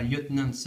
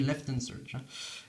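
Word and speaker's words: Lt. Surge: bien retenu la leçon on dit pas lieutenant se on dit left and search la prononciation anglaise le voltorb qui est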